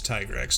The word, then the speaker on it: Tigrex: she's a main character i still refuse on that pronunciation it's tiger x tiger x robust all